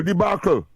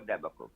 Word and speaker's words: debacle: Some people say deac but you can pronounce it either debacle or deac my friend and what what what what's the meaning?